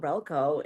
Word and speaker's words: Rehlko: Rehlko.